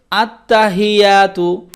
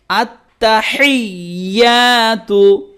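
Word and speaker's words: التحيات: আত্তাহিয়া তাপশতু, আত্তাহিয়াতু, অনেকে বলে আত্তাহিয়াতু, কেমন করে বলবেন? আত্তাহিয়াতু, লাম লাম যে লিল, লাম খাড়া জবল্লা, আল্লাহ শব্দের আগের হরফে নিচে জের, এই জন্য লাম খাড়া জবল্লা হচ্ছে।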